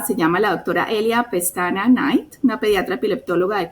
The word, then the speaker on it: Pestana: Estoy pronunciando bien, ¿es Pestana o Pestaña? Pestana.